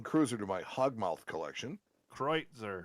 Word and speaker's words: Kreuzer: Kreutzer. I think that's how they pronounce it. You say cruiser, I say Kreuzer.